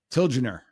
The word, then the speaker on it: Tilgner: Monte Tilgner.